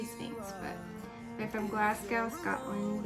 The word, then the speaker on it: PHNX: I call it Sphinx, but it's PN. Is it PHNX? I say Sphinx.